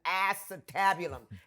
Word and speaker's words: acetabulum: You got to understand, it'll take more than fracturing an acetabulum. Couldn't even pronounce the word. It's an acetabulum.